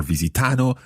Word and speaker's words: visitano: i want you to think of this as a visitano it's four semi-quavers okay or 16th notes for our american listeners okay it's not visitano or visitano but visitano four semi